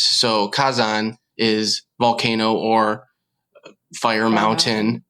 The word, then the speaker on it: Kazan: Well, for the listeners out there, Kazan is the romanization and pronunciation of volcano in Japanese. So Kazan is volcano or fire mountain, as it would be read in kanji or even in Chinese context.